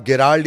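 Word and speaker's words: Gerald: तीसरा, जिसे आप गेराल्ड या जेराल्ड, दो नाम कहते हैं, ये प्रोनाउंसिएशन का मामला है। उसकी स्पेलिंग दरअसल जीई से शुरू होती है, तो कोई गेराल्ड बोलता है, कोई जेराल्ड बोलता है।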